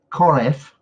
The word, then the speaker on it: Korev: it tasted like but this is how it's pronounced this koreff koreff is how is basically pronounced it's from the Xin